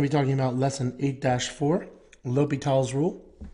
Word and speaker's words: L'Hôpital: Otherwise, his name should be L'Hôpital. That's how you say it.